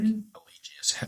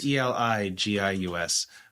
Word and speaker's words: Eligius: But I would say like Elegius, Elegius. That's how I spell it. So you're well read, so you're pretty darn close. But right. It's Eligius.